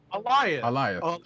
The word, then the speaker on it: Alioth: Alioth. Okay. Like Goliath. Like Goliath. Goliath without the G.